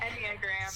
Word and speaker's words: Enneagram: Is it Enneagram or Enagram? Okay. Enneagram. Yes, I got it right.